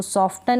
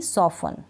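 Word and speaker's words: soften: Christmas नहीं पढ़ूंगी Christmas इसको सॉफ्टन नहीं सफन क्या पढ़ूंगी सफन टी इन सारी स्पेलिंग्स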